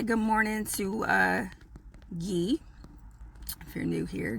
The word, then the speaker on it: Guy: Let's say good morning to Guy. If you're new here, Guy is short for guidance, but pronounced like Guy Savoy because why not?